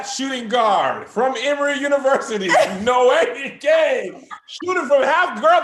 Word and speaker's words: Noemie: That Naomi, have you always been, Noemie, I said it wrong.